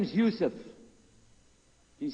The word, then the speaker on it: Yusuf: we'll work on it sh my name is Yousef can you say Yousef you say Yousef you're very good I wish